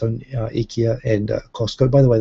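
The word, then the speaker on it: IKEA: does have its own ikia and Costco by the way they don't call it Ika in Japan they call ikia which I think is actually the correct pronunciation under the original Swedish but there you go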